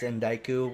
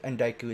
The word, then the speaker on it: Endiku: It's Endiku, which is, and Endiku is spelled ENDIKU.